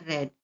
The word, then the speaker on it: read: Jadi ini bukan read dibaca red. Jadi bentuk pertamanya read, kemudian bentuk kedua red, kemudian bentuk ketiga juga red. Tulisannya sama, ejanya sama tapi cara bacanya berbeda. Read, red, red.